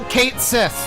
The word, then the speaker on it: Cait Sith: And so there's one part where you control Cait Sith, which is how they pronounce it in the game.